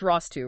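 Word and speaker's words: ROS 2: ROS2 pronounced ROSS 2, right? Not ROS2.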